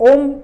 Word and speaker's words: ओम: ओम का उच्चारण कैसे करना है, जब हम ओम को बोलते हैं तो ओम में तीन ध्वनि उत्पन्न होती है, अ, उ और म।